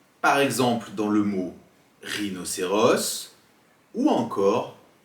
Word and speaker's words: rhinocéros: Deuxième possibilité, un H, par exemple dans le mot rhinocéros ou encore T. Mais généralement, on ne prononce jamais le H et il est souvent